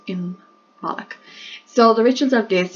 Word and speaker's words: Imbolc: But it is pronounced Imbolc.